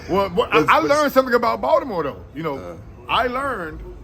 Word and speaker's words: Baltimore: Well, I learned something about Baltimore though. You know, I learned that I can't say Baltimore. No. Baltimore. I got to say Baltimore. Yeah. You got dragged. you got dragged. The T is a D.